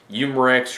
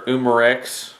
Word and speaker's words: Umarex: This particular one is made and distributed by Umarex or Umarex. I've heard both names by the manufacturer as far as pronunciation goes.